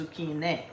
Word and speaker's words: zucchine: They don't say zucchini in Italian. It's zucchine with an E, because a singular is feminine. So, every once in a while I like to throw out this Italian lesson.